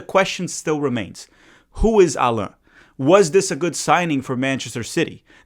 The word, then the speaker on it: Allan: Yes, that's how you pronounce his name. It's Allah, not Allan, even though sometimes I might say Allan.